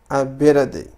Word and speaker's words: ability: Is his ability. ثم لدينا كلمة ability. فمعنى كلمة ability هي القدرة أو الاستطاعة. Ability. فنقول ability. فهنا لاحظوا أن تي قمت بنطقها على شكل دي.